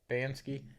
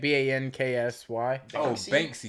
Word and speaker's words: Banksy: however you say his name, Bansky. It's like Banksy.